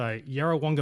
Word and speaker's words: Yarrawonga: at yarawonga and now this is where he's pronounced it malwa so yarawanga malwala that's how you pronounce it i got